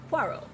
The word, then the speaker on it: Poirot: Poirot.